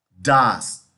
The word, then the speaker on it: does: Se pronuncia does. Muchas personas pronuncian does. No, es does, does. Do, la O suena como una U, y aquí does, does.